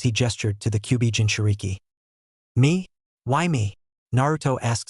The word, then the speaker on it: Jinchuriki: You said something about Jintoki, or something. It's pronounced Jinchuriki.